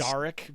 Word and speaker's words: Daric: Daric because it's the name of the gold pieces that I use in this setting. That's why it's called that. We'll change that pronunciation so it doesn't sound like Eric.